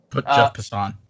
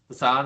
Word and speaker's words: Jeff Passan: Jeff Passan, I never know how to pronounce his name. Jeff Passan. Passan, okay.